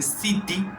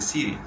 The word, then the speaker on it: city: Lo mismo pasa, que es más común, para decirlo en escuchar, city. No se dice city, se dice city.